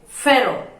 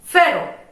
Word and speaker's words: pharaoh: फेरो। Listen to the pronunciation correctly and ट्राई to pronunciate it. फेरो।